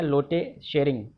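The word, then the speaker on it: Lotay Tshering: लोटे शेरिंग। T silent है यहाँ पर, लोटे शेरिंग।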